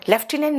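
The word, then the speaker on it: lieutenant: से एनडीए लटिनेंट लेफ्टिनेंट यस लेफ्टिनेंट में एफ नहीं होता ना लेफ्टिनेंट के स्पेलिंग में लटिनेंट होता है ना ये प्रोनंसिएशन देखो उसका लेफ्टिनेंट हो बेटा नीतू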